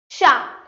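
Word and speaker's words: chat: Sha. I know Sha means cat, but here this CH, or let me remove this. So CH, it is always pronounced as sh. I repeat, sh.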